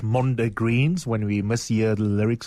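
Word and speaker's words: mondegreens: We were chuckling about, I think the right way to say it is Mondo Greens, when we mishear the lyrics of songs.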